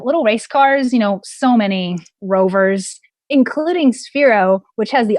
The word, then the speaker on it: RVR: We have little race cars, so many rovers, including Sphero, which has the option to integrate a microbit within their platform, their new rover platform. And that's RVR, but it's pronounced rover.